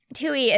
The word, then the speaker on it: Twohy: Toohey is spelled Twohy.